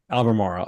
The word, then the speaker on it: Albemarle: all right uh how do you pronounce a l the company name for ALB is that abber Marley I never know Albemarle yeah Albemarle okay Albemarle for if you asked about that